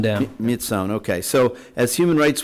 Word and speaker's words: Myitsone: Myitsone Dam. Myitsone, okay.